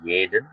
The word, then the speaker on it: jeden: Oke, IGH Morgan kalau ada huruf J itu dibacanya Y ya, jadi jeden.